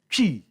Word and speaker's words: Twi: E, E, chi. Say again. E. No, say all the word. Chi. Tree. Tree. The T is silent.